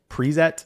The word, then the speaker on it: Prezet: It's a made up word, but I've been pronouncing it Prezet. So, like, as if it was a preset for Markdown blogging, just changing the S to a Z, but it doesn't really matter. So, Prezet, sweet, sweet.